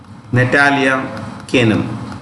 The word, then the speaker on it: Natalia Kanem: Chief is, let me write the name, Natalia Kanem. That's actual pronunciation.